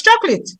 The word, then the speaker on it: chocolate: children say yes that's chocolate so would you not say the second o is silent and we need to